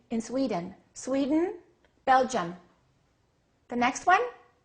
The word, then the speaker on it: Sweden: the first name Sweden two syllables which one is stressed the first one okay what happens to the second one swed Sweden Sweden so don't say I am from Sweden say I'm from Sweden how do we say